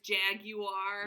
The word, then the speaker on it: jaguar: channel reacting like jag jaguar oh yeah jaguar is jag you are yeah and i feel